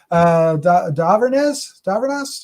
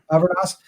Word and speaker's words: Dhavernas: Dhavernas. I never could pronounce her name for 3 years. Why would I be able to do it? Dhavernas is Dr.